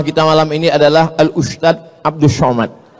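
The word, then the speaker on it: Ustadz: Enggak salah secara bahasa Indonesia, tapi secara bahasa Arab. Bahasa Arab itu ada huruf za, ada huruf ja, ada huruf d, ada huruf dza. Dza. Letakkan ujung lidah di atas gigi. Atas gigi atas. Dza. Dza. Permisi, Pak Ustaz.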